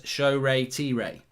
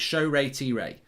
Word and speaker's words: Shoretire: I'm from the same tribe as Shoretire and in Nigeria, so it's pronounced as Shoretire. And that's from Flames Dude. So we need to remember this. It's Shoretire. Shoretire.